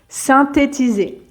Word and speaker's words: synthétiser: changements climatiques synthétiser synthétiser synthétiser le TH se prononce tout simplement comme si le H n'existait pas synthétiser et donc c'est